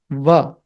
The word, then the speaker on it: व: When you have to say Va, that is Dantoshtya. Means it's a combination of teeth and lips. The lower teeth and the upper lips.